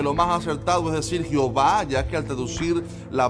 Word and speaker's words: Jehová: Este juego de letras, que ni siquiera se pronuncia Jehová, sino Jehová, fue un intento exitoso